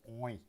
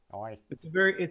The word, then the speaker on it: oi: It's got to be all through the nose. Oi. Oi. You can't drag it out either. It can't be oi. It's oi. It's a short, sharp, bouncy syllable.